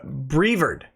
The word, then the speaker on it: Brevard: the county's name wrong it's pronounced uh brevard brevard not brevard damn it uh the